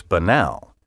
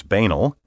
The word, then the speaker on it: banal: Dictionary published in 1993 asked the members of their prestigious usage panel which pronunciation they preferred 46% chose banal 38 percent chose banal and 14 percent chose banal which the dictionary notes is more common among British speakers bammel preferred by several